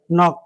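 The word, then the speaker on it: knock: यहां के के बाद नो एन लिखा गया। नॉक पढ़ा गया।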